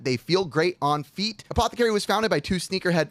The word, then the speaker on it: Apothecary: Apothecary is pronounced, by the way, Apothecary, and it is your sneakers' favorite socks.